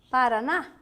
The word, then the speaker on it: Paraná: No Paraná? Paraná. Não é isso? Separando a palavra Maringá, Paraná. Primeira sílaba, de trás para frente, forte, portanto, as duas são oxítonas.